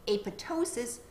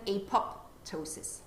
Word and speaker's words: apoptosis: They recommend that the second P is a silent P and that you say apoptosis rather than apoptosis.